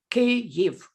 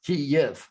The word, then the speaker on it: Kyiv: Kyiv. It's Ukrainian way, and it's only right way because it's Ukrainian city and it should sound Kyiv. Kyiv.